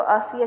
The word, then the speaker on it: Ashiya: एच जो है इसमें साइलेंट होगा, प्रोनाउंस इसको आसिया किया जाएगा।